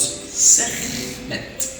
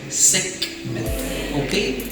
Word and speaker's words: Sekhmet: and was called goddess Sekhmet or Sekhmet. If the kha phonetically is hard for you, Sekhmet, the lioness, and was known in the ancient Egyptian mythology as the goddess of wars and chaos.